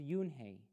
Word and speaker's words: Unhei: she nodded slowly yes it's pronounced yoon hey and it means grace mr kim added yoon